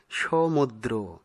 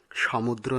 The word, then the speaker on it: সমুদ্র: সঠিক উচ্চারণ হবে সমুদ্র, সমুদ্র নয়।